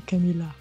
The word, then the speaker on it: Камилла: В частности, опять же, этот мужчина, который рассказывает, он снова немножко произносит более на французский манер с йотом. Так как это имя собственное, то скорее, конечно, оно произносится именно Камилла.